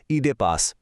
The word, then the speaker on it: Oedipus: ইংরেজিতে ওডিপিইউএস লেখা হলেও ঐতিহাসিকভাবে এর সঠিক উচ্চারণ হলো ইডে পাস।